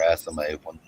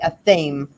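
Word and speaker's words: athame: altar cloth and their asthma with their first first moon blood thank you for saying it right um if i hear one more person say a thame i will have famed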